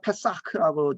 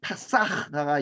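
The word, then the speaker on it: פסח: 6월절이라는 말은 페사크라고 지금 발음하는데 피가 있는 피를 집을 넘어가는 거죠.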